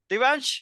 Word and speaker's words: Divyaans: the youngest Blood on the entrepreneur scene is Divan correct Divan yes did I pronounce it correctly okay okay so welcome to